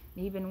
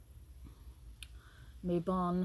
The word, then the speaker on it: Mabon: guys had a great Maybin as well or Autumn Equinox whatever you want to call it um mabon I guess I should say it properly not that I say